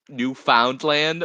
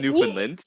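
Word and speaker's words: Newfoundland: So, she pronounced she pronounced it phonetically New Foundland Land, which is not what it's called. It's pronounced New Finland.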